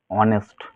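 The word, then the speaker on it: honest: কি হবে সাইলেন্ট এইযে এইচ ও এন এসটি এখানের মধ্যে কি আমরা এইচ এর উচ্চারণটা বাদ দেব তাহলে কি হবে অনেস্ট এইযে ডি ও ইউভিটি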